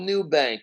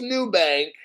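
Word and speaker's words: Nubank: whatever maybe full ownership in Brazil it's called new bank it's spelled m-u-b-a-n-k now listen to the title buffett-backed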